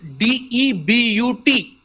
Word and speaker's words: debut: know confusing pronunciation like there is a word d-e-b-u-t d-e-b-u-t um but the pronunciation is debut debuted it is Midas Touch